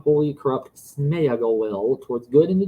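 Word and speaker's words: Sméagol: much too strong for the mean soul of Smeagol that's how you properly say his name but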